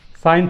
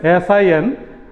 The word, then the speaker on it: sin: Sin theta. So you can see it is written as SIN, but its full form is SINE.